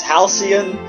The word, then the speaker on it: halcyon: sky beyond halcyon skies i looked up how to pronounce it it's halcyon uh i forgot what